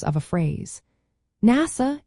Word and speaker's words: NASA: NASA is an acronym pronounced as a word while FBI is an initialism said letter by letter.